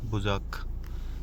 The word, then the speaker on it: Bucak: बुज़ाक की स्पेलिंग देखो यहाँ पे, BUCAK। तो बुज़ाक सी यहाँ पे जे की तरह पढ़ा जाता है, बुज़ाक।